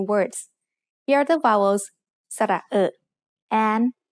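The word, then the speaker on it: สระเออะ: ะ เ อ อ They make the vowel sound which is a little bit like the ER in her, only said with a more relaxed throat.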